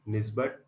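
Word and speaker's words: NIESBUD: In short, we pronounce it as NISBET.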